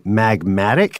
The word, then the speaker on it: magmatic: or episode that was some people may have thought that you were mispronouncing magnetic but you're not oh you're saying magmatic yes magmatic what a